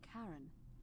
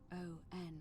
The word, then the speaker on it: Charon: The name you heard wasn't Karen. It was Charon.